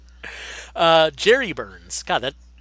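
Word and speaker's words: Jere Burns: name is actually pronounced Jerry Burns. Oh, right. Even though it's J E R E, which you would swear would be pronounced J or Jer.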